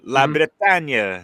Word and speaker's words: La Bretagne: Yeah, Brittany, France, like La Bretagne, as I pronounce it in French.